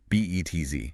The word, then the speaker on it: Betz: B-E-T-Z. Yeah. Pronounced like the word Betz.